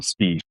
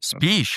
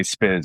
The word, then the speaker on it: Spisz: It's so It's Speish. It's Polish, actually. Speish, huh? Yeah. Yeah. A lot of folks just say Spizz because it's easier to pronounce.